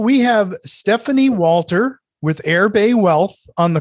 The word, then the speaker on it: Erbe: the way you spell this now is it's pronounced airbay but it's spelled w e-r-b-e-w-e a t